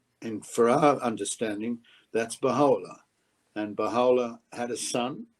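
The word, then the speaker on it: Bahá'u'lláh: And that is pronounced, Baha'u'llah, glory of God.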